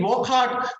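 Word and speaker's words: Wockhardt: This is indeed Wokhart.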